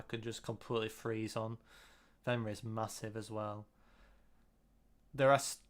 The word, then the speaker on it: Venray: Venray's massive as well. There are Venray rhymes with Stingrays.